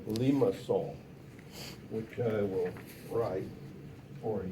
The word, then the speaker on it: limaçon: So it's it's a limaçon, not a limacon like Germans say, as a French person would say, view this. Okay, so it's a soft C.